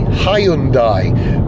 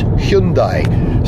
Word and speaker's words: Hyundai: In Britain we tend to call the company Hyundai, but the correct Korean pronunciation is Hyundai, so that's the one I'm going to use. Yeah, we've got a Hyundai Kona with a range of around 280 miles.